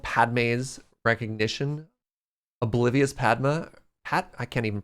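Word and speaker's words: Padmé: Padme, really? Like Pokemon. Huh. Padme. There's an emphasis?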